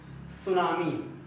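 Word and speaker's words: tsunami: कुछ शब्द ऐसे होते हैं जो एकदम रूल के मतलब समझ से बाहर रहते हैं, जैसे सुनामी।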